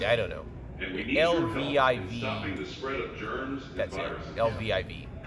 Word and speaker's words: Lviv: to the hospital at Lviv. I think I pronounced that right. I don't know. LVIV. That's it. LVIV. I think it's pronounced.